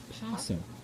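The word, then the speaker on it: opossum: at the front but it is a silent o it is actually just pronounced pum even though it starts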